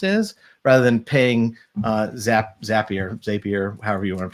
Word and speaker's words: Zapier: handy well and and it's pronounced as it's a zap you're creating zaps so it's it's zappier okay well yeah you're